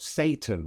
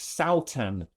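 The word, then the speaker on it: Sátan: Um Oh, was that the Satan Festival? Yeah, it was. And I I I asked them um you know how is it pronounced? Surely it's not Satan, right? And it's not. It's Saan, which is the name it's the name of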